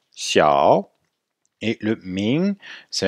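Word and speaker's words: 小: prononciation vous savez que le x se prononce avec le dos de la langue xiao et le ming c'est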